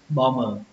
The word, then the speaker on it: bomber: Như vậy cái từ này chúng ta sẽ đọc là bomber.